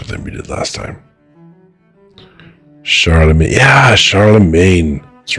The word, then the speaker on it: Charlemagne: Charlemagne.